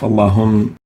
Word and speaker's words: اللَّهُمَّ: We don't say Allahum, but we say Allahum, where the lam of Allahum has to have tafkheem due to the dhamma and the waw before it.